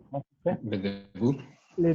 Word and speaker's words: début: Le début. Les débuts. Pardon, début. Les débuts dans l'association. Dans ces mots, on ne prononce pas le T.